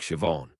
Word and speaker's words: Siobhan: Lots of Gaelic words that start with S. I seem to have a sh sound like Siobhan.